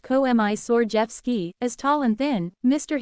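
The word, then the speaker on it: Komisarjevsky: were a mismatched pair Mr commer Jeffy pronounced COI sord Jeff ski as tall and thin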